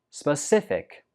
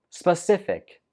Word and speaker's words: specific: 15 is specific. Specific. The stress goes on the 2nd syllable.